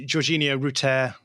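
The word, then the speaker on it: Georginio Rutter: yeah I would say georginia rout so the U is long and it's a French name so um and and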